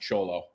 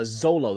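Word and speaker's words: Xolo: great actor I think I think it's pronounced cholo no it's uh Zolo the guy that plays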